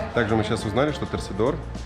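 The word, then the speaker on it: torcedor: Ну, можно и так сказать, но более правильно говорить торсидор.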